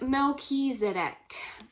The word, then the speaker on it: Melchizedek: We have, is pronounced Melchizedek, whose name means King of Righteousness.